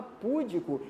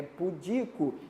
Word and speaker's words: pudico: mas enfim a palavra pudico é um outro exemplo de silabada é muita gente fala pudico e sair acentuando não não não é público é pudico isso aqui é o